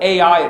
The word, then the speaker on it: Ai: even to bethl or Bal as it's called in the land unto the place where his tent had been at the beginning between Bal and I we call it AI it's actually pronounced I unto the place of